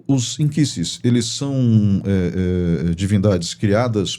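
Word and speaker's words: nkisi: E você falou dos inquisses, né? Eh, começa a palavra com N, né? N K I S I, né? Isso. Porque a pronúncia do N da linguagem queimbundo é in.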